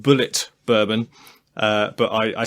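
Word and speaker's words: Bulleit: Chris i b uh I've been told it's pronounced Bullet bourbon uh but I I still want to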